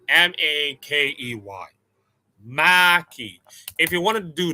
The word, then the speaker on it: Mhakey: It is not Makey, of course. It's Mhakey. Makey. Mhakey.